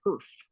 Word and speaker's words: Herf: by mostly was HF so I promise you I am not mispronouncing herb it is herf h e r FF that is such an